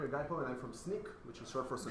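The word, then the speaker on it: Snyk: I'm Gaipo, or Gaipo, and I'm from SNEAK, which is short for So Now You Know. It is pronounced SNEAK as S-N-E-A-K.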